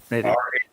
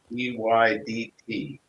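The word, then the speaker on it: Rheydt: Readied. Reyddt.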